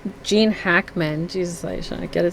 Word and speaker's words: Gene Hackman: So here we have Behind Enemy Lines, Gene Hackett, and right, that's how you say his name, right? Gene Hackman.